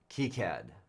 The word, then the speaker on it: KiCad: Incidentally, it's supposed to be pronounced KiCad, right? As far as anybody can tell, it's French originally, and it's supposed to be KiCad.